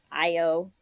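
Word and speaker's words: Ayo: they tell you how to pronounce it it's IO it's spelled a yo so it's like is that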